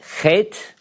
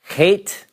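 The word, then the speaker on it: חית: Chet. It's a little bit harder to pronounce for English speakers. It's sort of, at some places, now I'll tell you, when native Israelis speak, it's less guttural by most.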